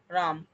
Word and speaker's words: রাম: পজ্জল, এখন আর কিন্তু ওই অটা, শেষের অটা যেটা উচ্চারণ হয় না সেটা কিন্তু বর্ণ বিশ্লেষণে লেখাও হয় না, আসে না একদমই।